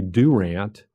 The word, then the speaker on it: Durant: actually involves southeastern state down in Durant or as the locals say Durant and that was an